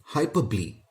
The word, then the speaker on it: hyperbole: this word o is silent and it is pronounced as hyperbole hyperbole is a figure of speech when the poet